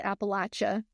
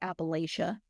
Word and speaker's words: Appalachia: People from the area pronounce it Appalachia. That is the correct pronunciation. But I know a lot of people elsewhere just say Appalachia because that's just kind of what it looks like.